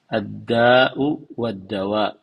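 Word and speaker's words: الداء والدواء: kembali kitab addau waddawa jadi cara membacanya yang benar adalah addau waddawa penyakit dan obat atau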